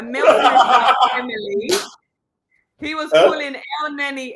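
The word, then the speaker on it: Elneny: Have you noticed that he mispronounces everything? I know. Listen, he was calling a Milton Emily. He was calling El Neni El Nani.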